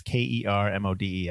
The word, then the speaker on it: Kermode: All right, so there was a critic, and I'm going to say his last name wrong, but his name is Mark Kermode or Kermode. It's Kermode.